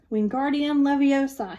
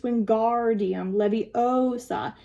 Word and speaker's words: Wingardium Leviosa: Wingardium Leviosa, he shouted, waving his long arms like a windmill. You're saying it wrong, Harry heard Hermione snap. It's Wingardium Leviosa. Make the gar nice and long.